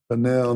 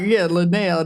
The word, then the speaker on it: Lionel: His name is spelled Lionel. That's how we would say it. Lionel Messi. But they say it like, Lionel.